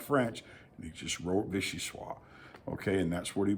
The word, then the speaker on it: vichyssoise: If you know French, you understand that vichyssoise is spelled in the feminine, okay? So, or the O-I-S-E at the end. It's a feminine connotation. And people will argue that it should be pronounced vichyssoise.